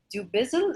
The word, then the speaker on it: Dubizzle: experiences include uh being the cx manager at do bizzle am i pronouncing that correctly yes it is okay so